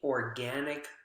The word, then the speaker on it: organic: adjective june eats only organic food he thinks it's healthier organic which syllable is the strongest organic organic again gen is the strong syllable and it makes sense